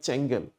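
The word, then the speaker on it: Çengel: So this is even though it's written with a C, it's pronounced like changelen.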